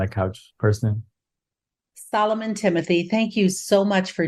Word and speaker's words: Thimothy: as Dr friends said my last name is Timothy uh it's spelled with an H it's th h m